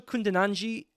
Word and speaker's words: Kundananji: And Rachel Kundananji does have the final vowel pronounced at the end of her name.